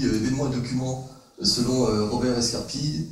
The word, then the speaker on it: Escarpit: Alors, je ne sais pas si on dit Robert Escarpi ou Robert Escarpite. Bon, hier, il y avait une prononciation. Escarpi, alors c'est définitivement Escarpi.